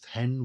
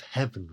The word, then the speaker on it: heaven: as and trouble deaf heaven with my bootless cries. I think the two are almost equally valid. What favors pronouncing heaven as one syllable here, hen, is that the line